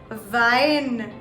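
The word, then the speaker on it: Wein: i have for w for you guys is vine vine wine is the wine that we drink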